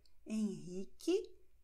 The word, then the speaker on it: Henrique: Wobei in Q-E, Q-I, U stumm ist, wird geschrieben, aber nicht ausgesprochen. Dann entsteht dieser K-Laut. Carlos, Marcos, Custódio, Henrique, Quitéria.